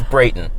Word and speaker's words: Brayton: No! It's Brayton.